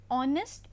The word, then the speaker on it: honest: example an R an honest man so here in an honest man the word h is silent hence the beginning sound